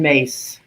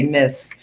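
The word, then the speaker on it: Myss: ago from uh carolyn mace and for those of you who say miss i think she pronounced it may so just so you know i'm speaking about the same person she she was the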